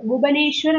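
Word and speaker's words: Bhubaneswar: Odisha capital புவனேஸ்வர் அப்படிம்பாங்க. Actually புவனேஸ்வர்னு நம்ம pronounce பண்ணணும். ஒடிஷா கேபிட்டல்.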